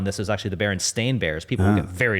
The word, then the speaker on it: Berenstain: So most people, when asked, I think 85% of people will say it's STEIN, the way you would normally spell that last name, but it was Stain, right?